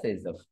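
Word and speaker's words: Zaitsev: His name is Alexander சேசவ் பட் pronounced as சேசப்.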